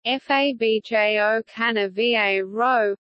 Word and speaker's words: Fabio Cannavaro: Fabio Cannavaro a fish Omri Italian pronunciation FA bjo can a VA robe on the 13th of